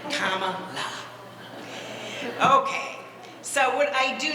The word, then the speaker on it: Kamala: for attorney general and a lot of people in the state of California had a hard time knowing how to pronounce Kamala so they had the hat made to help people pronounce it right right Comm La okay so what I